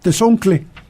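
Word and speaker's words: tezontle: del país se el el nombre original de esta piedra es tzontli o tezoncle como la la pronuncian los mexicanos cuando se dificulta el uso de la TL eh se emplea la cl algún día iba yo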